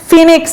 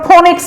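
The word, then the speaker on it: phoenix: আর myth, ফিনিক্স আমরা তো পারি, তাই না? এটা উচ্চারণ আবার ফোনিক্স বলবেন না, এটা উচ্চারণ ফিনিক্স, ঠিক আছে।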